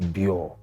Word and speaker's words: BYOR: You know, BYOR came in immediately, and it's BYO, but I thought people won't know how to pronounce it, BYO. Yeah. So I just put the R at the end so people know it's BYOR.